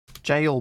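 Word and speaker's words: gaol: jail, but spelled the way Australians spell it with a G A. G A I A O L.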